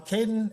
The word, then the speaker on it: Kaden: we have Kaden um Kaden am I mispronouncing your name you're good okay um Caden I